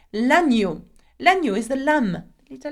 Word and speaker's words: l'agneau: And if you have watched one of my videos on E-A-U sound, you will know that E-A-U is the sound O. So, knowing that, it will be la-ni-yo. L'agneau.